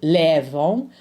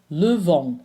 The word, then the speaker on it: levons: We don't say nous lèvons, we say nous levons. So the stressed syllable is the last one.